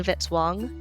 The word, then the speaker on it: Vitz-Wong: Music by Kevin Vitale, rhymes with hit song.